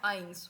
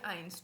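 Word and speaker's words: eins: zero को बोलोगे नल वन को बोलते हैं आइंस वन को बोलोगे आइंस टू को स्वाय स्वाय स्वाय क्या बोलोगे स्वाय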